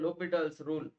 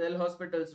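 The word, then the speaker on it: L'Hôpital: separately that is called lal's Rule okay don't read this as L hospitals rule it should be WR as lal's rule H and S is silent this is lital Rule so this is 0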